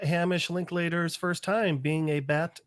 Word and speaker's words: Linklater: also the actor depicting this is not Hamish linklater's first time being a bat man oh really